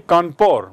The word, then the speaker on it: Kanpur: Dekhiye Kanpur ki spelling aur iska uchcharan bhi Kanpur. Why? Because British people cannot pronounce Kanpur.